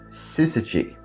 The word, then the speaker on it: syzygy: And you pronounce it syzygy. So the episode is called Syzygy.